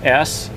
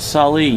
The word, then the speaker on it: Salai: It's spelt out S-A-L-A-I, Salai.